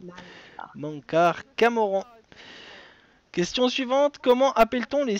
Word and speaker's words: Mankar Camoran: Ben, c'était Mankar Cameron. Cameron, pardon. Le Voilà. prononce mal. Mankar Camoran.